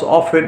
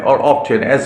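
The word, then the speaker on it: often: অলস always how অফেন অলস pronounce অফেন অরটেন like okay তাহলে এভাবে নেভার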